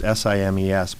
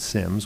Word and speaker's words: Simes: I remember it was simes but he specifically pronounced it Sims which is why I'm